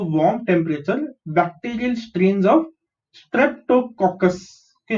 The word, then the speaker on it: Streptococcus: temperature, bacterial strains of Streptococcus. Okay, how do you pronounce this? STREP. Strep. TO is to. COC is cock. CUS is cus. Streptococcus.